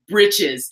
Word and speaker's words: breeches: And I hit pronounce and the thing goes, britches.